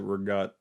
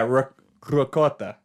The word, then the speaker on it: ricotta: Italian Americans pronounce it rigat. Which and Italian is so and ricotta. then yeah, ricotta. Mm-hmm. Yeah, that's how it's pronounced in Italian.